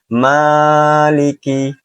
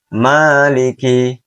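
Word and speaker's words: مالك: Kesalahan yang sering terjadi yaitu lebih dari dua harakat. Maliki, Maliki, Maliki. Dan yang benar adalah dibaca dua harakat. Maliki, Maliki, Maliki.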